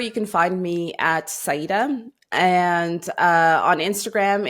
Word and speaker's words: Saidah: Saidah. Oh yeah. The E. Yeah. It's not English. It's like the E has to be spoken also.